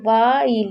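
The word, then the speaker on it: while: वाइल, अब देखिए वाइल यहाँ पर जो हमारा एच होता है वो साइलेंट होता है, कभी भी WH के बाद आई होगा तो आपको एच को नहीं पढ़ना है, तो वाइल, और लास्ट वाले ए को नहीं पढ़ते, इसीलिए हमने इसे वाइल पढ़ा।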